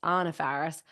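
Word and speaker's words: Anna Faris: Anna Farris which is her name is actually pronounced Anna Farris Chris Pratt who we all knew was going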